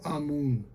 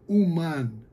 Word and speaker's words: Amun: Mas não pronuncie como Amun, mas sim como Uman, literalmente um artesão.